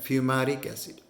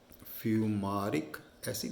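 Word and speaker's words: fumaric acid: उसे हम बोलते हैं फ्यूमेरिक एसिड। फ्यूमारिक एसिड या फ्यूमेरिक एसिड भी बोलते हैं, प्रोनाउंसिएशन का फ़र्क है।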